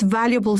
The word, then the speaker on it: valuable: Valuable, this A is not pronounced, sorry.